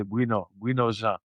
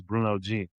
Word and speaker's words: Bruno Jean: If you're if you're coming, if you're Haitian or French, you're gonna say buo. That's how you would say my name. But obviously, if you're speaking English is Bruno G.